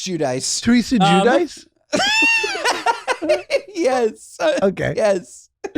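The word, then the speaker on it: Giudice: Theresa Gaduche Gadouche. Hi, I'm Teresa Gadouche. Am I wrong? Yes, it's Judice.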